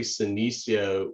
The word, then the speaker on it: Senecio: pointed out that actually Senecio rhymes with Benicio. And so we don't think that Benicio del Toro will be at the plant sale, but if he was, he would say, I love Senecio, I'm Benicio.